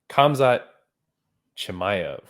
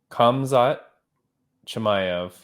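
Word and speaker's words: Khamzat Chimaev: Komzat Chemvier. Oh my God, that's really not close. Komzat Chimaev. I believe that is the pronunciation. I believe that's the pronunciation.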